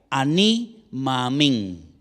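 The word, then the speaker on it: אני מאמין: Ahora, realmente la palabra amén no es en sí una palabra, sino es la contracción de dos palabras en hebreo que se pronuncian de la siguiente manera. Ani maamín.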